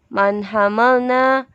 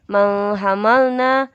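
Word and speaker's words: مَنْ حَمَلْنَا: Man hamalna. Bacanya bukan menghamalna tapi man hamalna karena hukumnya izhar halki yaitu baca jelas. Kenapa? Karena ada nun sukun bertemu dengan huruf H, maka bacanya jelas.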